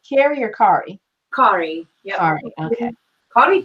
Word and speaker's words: Kari: okay so you can if you pronounce it in Spanish and then it sounds Norwegian okay so cardi towering